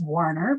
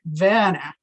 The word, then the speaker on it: Werner: was werner it's german it was often mispronounced in california as warner because we didn't live that far from the warner brothers studios it should be pronounced more like vana in the german and the original german